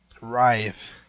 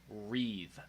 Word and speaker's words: writhe: Writhe. Writhe. She says wreathe. Well, that is kind of weird. Wreathe. That is a little weird. Sounds like an E. There's no E there.